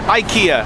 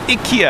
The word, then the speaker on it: IKEA: Apparently, our North American pronunciation is incorrect. Growing up in Canada, I always called it IKEA. IKEA. It's IKEA. And I came to Japan and all the Japanese people called it Ikya.